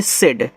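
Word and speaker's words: said: ए एन डी एंड एस ए आई डी इसको पढ़ते हैं सेड एस से आपका छोटा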